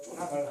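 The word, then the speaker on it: 敦煌: 이게 둔항이라고 해서 단지 중국 발음 둔을 따라서 한다 하는 게 아니고 한자 사진 찾아보면 아시겠지만 돈만 알고 있는 게 아니라 둔도 있습니다. 그리고 지금 중국 발음이 둔항으로 놓기 때문에 둔.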